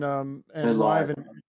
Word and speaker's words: Live: You know, when you live that firsthand, you can't help but connect yourself to mental health.